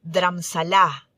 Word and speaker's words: Dharamsala: Dharamsala o Dharamsala, como se pronuncia en hindi, significa morada espiritual y combina dharma o enseñanza espiritual con shala, que equivale a morada.